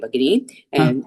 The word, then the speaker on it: भगिनी: नमस्ते नमस्ते भगिनी उत्तमं भगिनी இது Mahapranas you have to make sure little bit stress on the Mahaprana भगिनी overall the cha